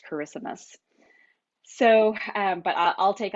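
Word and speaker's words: Kiritimati: is how it is pronounced so most people pronounce it kiritamati so you may have heard it referred to as that but it is actually pronounced charismus so um but i'll take either so this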